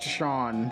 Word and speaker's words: Seam: The name Seam, pronounced Shawn, that's not how you pronounce that name.